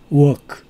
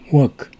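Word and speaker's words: walk: work 워크를 사용합니다 워크이 워크를 발음할 때는 입술을 둥그렇게 만들어 가지고 work work 아을 넣으면 안 됩니다 일한다 할 때 직장이라 할 때는 work 아를 넣지만 걸 걷는 것을 의미하는 워크는 입수를 둥그렇게 해서 work work I work to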